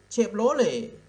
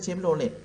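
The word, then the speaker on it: Chevrolet: โร เลต์ I like เชฟ โร เลต์ ฝรั่ง เต็ม รถ เลย แต่ คน ไทย เล็ก เชฟโรเลต นะ ฮะ อ่ะ เพราะ ตา ที ก็ จะ เก็บ มัน ต่อ เต่า การันต์ เขา ไม่ ออก เสียง ฮะ นี้ เป็น เชฟโรเลต นะ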